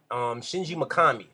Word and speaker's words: Shinji Mikami: Shinji Mikami, that's how you pronounce that, is the guy who made Resident